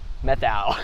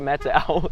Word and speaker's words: Methow: with alexa probably the first time i said methyl she's like it's actually a meta out yeah get it right get it right it